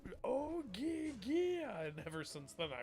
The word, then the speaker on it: Oia: It's Oia. And ever since then I remember what it's spelled.